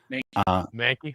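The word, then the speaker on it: Mahnke: Manaki. How do you say that, guys? Mankey.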